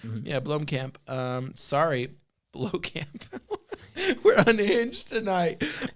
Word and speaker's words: Blomkamp: Blomkamp? Yeah, Blomkamp.